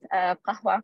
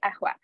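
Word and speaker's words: قهوة: I mean right now, in Karen Arabic, it is pronounced as a glottal stop, so it's a. So on the example of word qahwa, which means coffee, in Cairo, Alexandria, or Qusayri, you would say ahwa.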